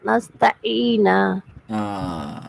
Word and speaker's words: نستعين: நஸ்தஈனா அந்த ஐன் தொண்டையால வரணும். ஐன் உச்சரிக்கணும். இப்போ நீ சொன்னதுல நஸ்த ஐன் சொன்னது போல ஏன் சவுண்ட் வரல, ஐன் உச்சரிப்பு வரல, அலிப் உச்சரிப்பு தான் வந்துச்சு.